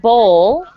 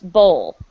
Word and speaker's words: bowl: be very difficult so think of the word bowl like it doesn't have a w so say it like this bowl bowl good okay so let's